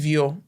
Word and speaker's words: Viaud: No, I think it's Viaud because Viaud. he's Haitian. Yeah. You know, the French Creole, whatever.